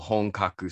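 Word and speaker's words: Honkaku: the states ping-ponging across the country supporting called hongkaku spirits which is spelled h-o-n-k-a-k-u hong kaku which means means authentic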